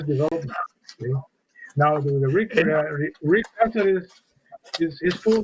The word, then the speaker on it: Casares: When I called the Chicago Bears to get some information on him, I pronounced it phonetically like you do in Spanish. Rick Casares. And the gentleman told me, he says, hold on.